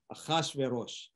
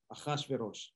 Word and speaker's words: Ahasverosh: So the opening scene is this king that we just talked about, this Persian king, Ahasuerus, or in Hebrew, his name is pronounced Ahasverosh. Ahasverosh.